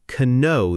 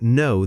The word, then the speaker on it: know: Now, here's a mistake many learners make. They say, "I don't k know the answer." Pronouncing that hard k sound. Oh, I hear that a lot. The k just isn't there in real speech.